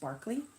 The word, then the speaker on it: Berkeley: was a bad example Berkeley in the UK is pronounced Berkeley huh interesting what time he goes on 10:30 a.m.